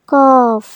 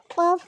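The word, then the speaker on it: ق: ছোট বন্ধুরা, এই হরফটির নাম হলো কফ। এই হরফের নাম কফ। কফ জিহ্বার গোড়া তার বরাবর উপরে তালুর সঙ্গে লাগিয়ে আমরা কফ উচ্চারণ করব।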